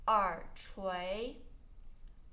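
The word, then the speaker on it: 耳垂: Earlobe, 耳垂, 耳垂.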